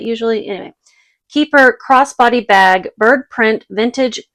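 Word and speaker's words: Keyper: fossil keeper spelled weird I think it's supposed to be like keeper but it's spelled ke y p r because there's a key on it usually anyway keeper crossbody bag bird print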